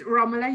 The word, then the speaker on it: Romula: unmute thank you um it's romula you pronounced it perfectly thank you david